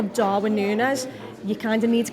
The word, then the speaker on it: Núñez: So everyone's firing, and I think like Darwin Núñez, you kind of need to keep him in